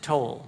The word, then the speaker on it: Towle: Yeah, the first thing I should say is he pronounces it Toll.